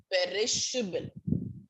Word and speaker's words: perishable: So perishable. Per is H. Able. Perishable pronunciation. Per chocolate, per bottle of milk, per slice. So per, P-E-R, is, I-S, H is separate. Perish, her, perish, her, able, perishable.